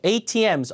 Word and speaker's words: ATMs: 앞에 강세 주고 ATMs, automated teller machines. 자동 현금 지급기죠. 자, ATMs outside.